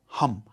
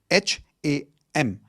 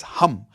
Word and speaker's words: Ham: The fifth chakra is your throat chakra which is sound of hum. H a m. It's not ham. Okay. It's hum like how you would say hu m.